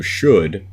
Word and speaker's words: should: you a visual rhyme so should when you hear it it rhymes with good but on paper it looks like it shouldn't rhyme so this is the